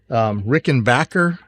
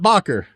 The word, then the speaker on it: Rickenbacker: And this is a 1934, I think, Rickenbacker, not Bacher.